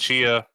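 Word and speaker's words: Tchia: Chia, which we were pronouncing as Tachia before, is coming to PlayStation Plus Extra Tier and above in March.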